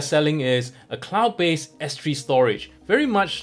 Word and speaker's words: Storj: storage IO yes you ready right it's not storage a but pronounced storage effectively what storage IO does is an application